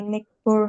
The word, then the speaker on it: neighbor: I have been eating when I saw the police outside my neighbor house. Neighbor house. GH-nya nggak dibaca ya, Kak?